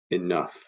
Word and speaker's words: enough: spelled a different way enough now this word is difficult to spell and it rhymes with tough and it's a tough